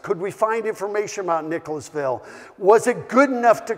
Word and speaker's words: Nicholasville: onto YouTube and see how people pronounce Nicholasville to make sure they didn't shorten it down to Nicholsville seems to be a